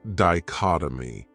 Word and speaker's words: dichotomy: Another great noun is dichotomy. This word has 4 syllables, and the stress is on that second syllable, dichotomy. That third syllable has that schwa, that sound, di-chot-o-my.